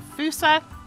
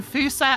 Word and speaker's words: Fossa: So at the back here, we've got the Fossa, not the Fossa as I originally thought it would be. Some of these animal names